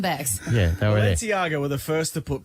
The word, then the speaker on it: Balenciaga: Is it Balenciaga? Yeah, man. Balenciaga, you can say.